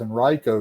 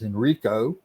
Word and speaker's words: Henrico: what, you know how you know somebody's not from Virginia? When they mispronounce Henrico as Henrico, when they call it Henricus Park, instead of Henricus, when they mention it as, what was the other one?